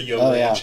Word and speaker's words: YO Ranch: The YO Ranch or the Yo Ranch? Yeah. How is it pronounced?